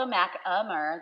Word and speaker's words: Machammer: I have with me Miss Mackhammer, also known as. It's also Machammer. The H is silent. That's okay. I like Mackhammer.